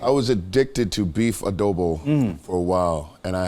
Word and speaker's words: adobo: concert what's uh it's like how do I pronounce it is it not Adobe is it a double yes it's a double perfect I was addicted to beef adobo for a while and I had to I